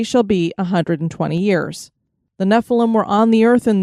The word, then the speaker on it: Nephilim: nevertheless his day shall be 120 years the Nephilim were on the earth in those days and